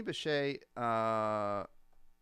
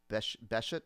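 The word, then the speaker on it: Sidney Bechet: So Sydney Bechet, you see that name there. It looks like you might say Bechet, right? But you pronounce it Bechet.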